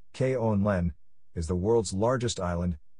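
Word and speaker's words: Grønland: pronounced call it nudity Danish Brundtland pronounced Kon Len is the world's largest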